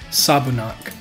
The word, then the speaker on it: Sabunak: Sabunak.